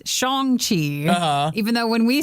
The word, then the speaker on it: Shang-Chi: Am I saying that right? It is Shang-Chi.